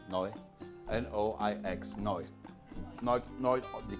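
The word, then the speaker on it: noix: How am I pronouncing it right? Noy?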